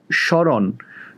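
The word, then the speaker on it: স্মরণ: এখন দেখো, শরণ এস এইচ বা শ এর মতো উচ্চারণ হচ্ছে, ওই জন্য তালব্য স দিলাম।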